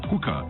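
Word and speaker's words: HUCA: Hooker is spelled H-U-C-A.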